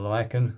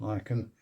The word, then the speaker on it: lichen: There's also a couple of bits of lichen on there, or lichen. I think it's actually spelled lichen, pronounced lichen.